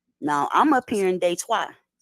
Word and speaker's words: Detroit: I'm up here in day twice so you said in French it's day twice you don't say Detroit you say they twice we have uh not